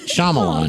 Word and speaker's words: Shyamalan: Night Shyamalan. Yeah, go ahead. Shyamalan.